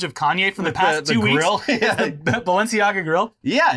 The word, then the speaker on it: Balenciaga: from including his favorite uh which I never pronounced correctly but Balenciaga Balenciaga yeah Balenciaga uh yeah also I'm sure well